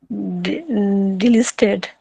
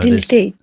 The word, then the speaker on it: deleted: Delisted. No, Deleted. there's no L in there.